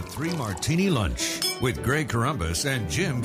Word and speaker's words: Corombos: pronounce my name again it's corbus not cromnibus so don't blame me